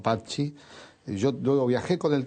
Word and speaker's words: Patxi: que cantábamos tus canciones, te pronunciábamos mal, decíamos Patxi, porque leíamos como se suele leer en el español, claro, y no Patxi.